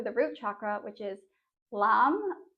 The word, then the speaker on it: Lam: And then we'll also be chanting the bija mantra for the root chakra, which is Lam, L-A-M, but it's pronounced L-U-M.